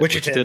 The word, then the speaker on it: Wichitan: Wichitan.